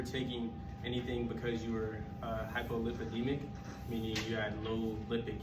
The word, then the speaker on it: hypolipidemic: if you were taking anything because you were hypolipidemic meaning you had low lipid count okay that's